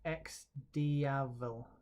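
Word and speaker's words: XDiavel: Okay, Darren's telling me it's pronounced X-Diavel. X-Diavel.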